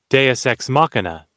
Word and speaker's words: Deus ex machina: So this is the pronunciation. Deus ex machina.